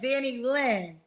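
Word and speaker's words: Danilyn: Danny Lynn.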